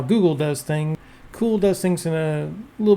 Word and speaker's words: CeWL: the Kali Linux tool Cool, which is of course spelled kind of weird, but it is pronounced Cool, which even the author made note of it on his personal website.